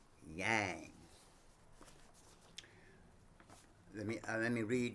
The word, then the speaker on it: Yang: Chi or Yin and Yang. So let me read this right quick. Yin and Yang pronounced yang as in gong as in gong is the is one of the most fundamental concepts in Chinese medicine.